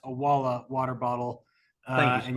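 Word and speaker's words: Owala: We've got the Awala, it's pronounced Awala water bottle, Thank you, and you'll be able to choose Ken color.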